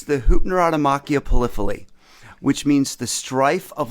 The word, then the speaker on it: Hypnerotomachia Poliphili: All right, pronounce it for us. Sure. It's the Hypnerotomachia Poliphili, which means the strife of love in a dream of he who loves many things.